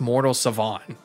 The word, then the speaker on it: Mortal Savant: actually it's actually pronounced mortal Savon the t is silent and I've been saying